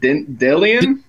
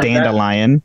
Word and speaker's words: Dandelion: listened to the audiobooks they pronounce it dillian Dan dillian is like the first couple books and then they correct it to dandelion that's almost as fast